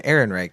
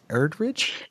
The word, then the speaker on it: Ehrenreich: And so I think as far as and you said criticisms, it's Alden Ehrenreich. Did you say Erdrich? I knew I was going to mispronounce it, so might as well just go all the way with mispronouncing.